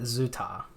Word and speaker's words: 朱塔: He pronounces it ZooTay.